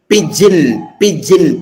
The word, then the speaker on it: pigeon: That's called pigeon. P-I-J-I-N is the pronunciation.